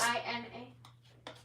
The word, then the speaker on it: Gina: Okay, what's G-I-N-A? G-I-N-A, Gina. Oh, Gina, okay. Like Regina. Spelled the same way anyway.